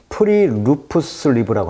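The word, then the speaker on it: friluftsliv: 이게 발음이 좀 노르웨이어 같아요. 프리루프슬리브라고 합니다.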